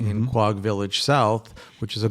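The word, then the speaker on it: Quogue: Am I going to pronounce it wrong or right? Is Quag, right? Quag, not to be confused with Quiog, it's neighbor.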